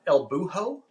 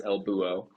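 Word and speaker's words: El Búho: States friends it's not Elbo yeah the H is silent so it's Elbo which means the owl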